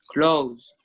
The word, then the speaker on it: close: Okay, so actually the second one, which is the adjective, is close with the S sound. This is pronounced as an S, and this is pronounced as Z.